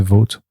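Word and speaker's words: Vought: je sais pas pourquoi tu dis vo mais c'est vote vote. Ben en fait vote non parce qu'en fait vu que c'est o ght h je me suis dit ils doivent le prononcer comme thought tu vois. Ouais mais pas vo bah vo du coup non parce que vo c'est vo c'est de l'allemand c'est c'est autre chose.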